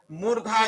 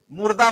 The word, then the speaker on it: मूर्धा: अब देखिए इसके बाद चौथा है मूर्धा यानी मूर्धन्य। मूर्धा का उच्चारण स्थान ये री का होगा, जैसे ये री है, ये मूर्धा है, मुर्दा मत कहना।